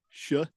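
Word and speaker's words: Shough: Jeffrey, I already forgot how to pronounce this. Tyler Shaw. Shaw.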